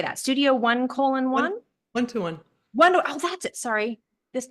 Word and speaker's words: 1:1: 121.